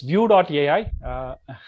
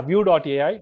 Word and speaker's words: VUE.ai: It's view.ai. It's easy to spell. Pronunciation is view. Yeah, view.ai.